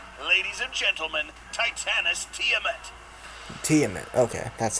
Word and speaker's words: Tiamat: there she is ladies and gentlemen titanic tiamet teammate okay that's how you say it this video